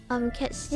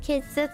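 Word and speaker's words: Cait Sith: But like every other drawing of Ketchi is very cute, so I do put him high because he's a cat. It's pronounced Kate Sith in the Rebirth.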